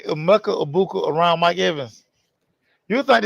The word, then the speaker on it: Emeka Egbuka: Mecca Ibuka. Yeah. Yeah, Mecca Ibuka. Who got him? Everybody can't stop raving about. Mike, listen. if you say Emeka Egbuka around Mike Evans, you think it's Mike Evans' son.